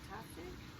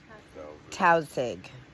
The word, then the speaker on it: Tausig: how do you say it, Toxic? My main name? Tausig.